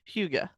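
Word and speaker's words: hygge: they have that whole now it's spelled Hy G G have you seen that word oh Huga that good woman that is how they pronounce it I'm I know that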